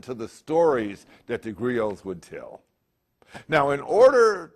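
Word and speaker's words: griot: you a brief history I'm a Grio g r IO T well we don't pronounce the T it's silent Grio Grio are Master storytellers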